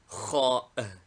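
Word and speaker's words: خاء: Name, Kha. Equivalent, KH. Like CH in Welsh or Gaelic, or the German CH as pronounced in Switzerland.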